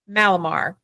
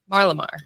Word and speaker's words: Marlimar: And we have Andrew Martin with Malamar. Marlamar.